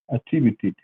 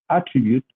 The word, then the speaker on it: attribute: In this case, when it is a verb, the stress goes in the second syllable, attribute.